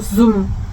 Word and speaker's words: zoo: 그래서 zoom. 동물원 똑같은 결이긴 합니다. 동물원을 말할 때 그냥 주라고 하면 이 사람들은 이해를 못하고요. zoo라고 하셔야 됩니다. zoo.